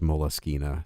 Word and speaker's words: Moleskine: the notebook paper this is a base it's pronounced molas kena spelled moleskin i hate saying the word molesky